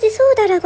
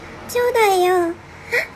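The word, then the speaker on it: 長蛇: 소우다라고 한 거 같은데 이거 소우다 아니고 치우다예요.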